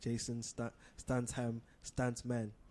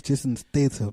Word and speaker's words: Jason Statham: Jason Stansham, Stantman. That's his name. No, I'm saying His like name is Jason Statham.